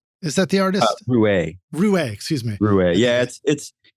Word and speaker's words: Raue: If I pronounce it right, Rau, is that the artist? Rouet. Excuse me. Rouet. Yeah, it doesn't look how it sounds, but yes, it's Rouet.